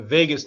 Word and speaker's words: vagus: Now, cranial nerve number 10 is the vagus nerve or the Vegas nerve, I like to say, although it's not spelled like Vegas.